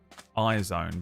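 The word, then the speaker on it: IZ*ONE: they ended up in a group called iZone, but it's spelled is1. It's like IZ*1, I think.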